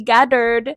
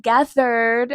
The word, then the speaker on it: gathered: aquí la misma pronunciación de antes dice we gathered, pero sería we gathered. La TH tiene que ser más suave.